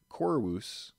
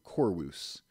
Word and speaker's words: Corvus: there on the screen that would have been pronounced a little more softly we think with the ancient Romans so they would have said something a little more similar to chorus instead of Corvus so I have studied